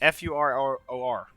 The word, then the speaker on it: furor: I don't know how to pronounce it. Let me see chat. It's F-U-R-O-R.